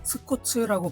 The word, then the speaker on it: 스쿠츠: 이 스쿠츠는 일본 발음으로는 스코츠라고 부르는데요. 옛날에 우리들이 국딩, 초딩 때 아카데미 과학에서 카피판으로 출시했을 때 스쿠츠라고 타이틀을 적어서 출시를 했기 때문에 그 이름이 훨씬 더 익숙할 겁니다.